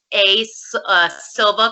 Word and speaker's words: Silva: My Instagram handle is Silva, because my name is Morgan Silva.